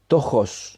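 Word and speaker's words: πτωχός: de él eres pobre la palabra pobre en griego es cojos se escribe p t o j o s cojos que significa pordiosero estar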